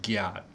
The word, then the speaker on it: gyat: They actually say it's kind of like GIF or GIF. It's the soft kind of the same. It's the soft G. So it's like GIF, gyat.